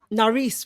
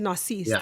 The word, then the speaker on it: Naris: wrong William n and William naris oh my gosh for a team that I love a lot narice right I said naris didn't I yeah yeah he's